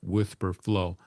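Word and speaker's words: Wispr Flow: So on their channel, they talked about an app called Whisper Flow. It's spelled Wispr for anybody interested in it. Whisper Flow.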